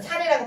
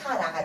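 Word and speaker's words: Sarah: 근데 끝에가 H가 붙잖아요. 그럼 이게 우리가 아는 아가 돼요. 아. 이해 가셨죠? 그러면 H가 붙었잖아요. 사례라고 발음하면 안 돼요. 끝에 H가 있으면 우리가 알아서 사라가 돼요. 사라.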